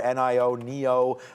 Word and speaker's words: NIO: NIO is the pronunciation.